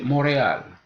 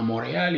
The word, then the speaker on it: Montréal: seulement à la fin il y a certains mots aussi qui contiennent des consonnes muettes à l'intérieur du mot l'exemple le plus facile pour nous c'est Montréal dans Montréal il y a été